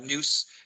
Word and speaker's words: Nous: Nous is how they pronounce their name. I'm in the French, it's Nous.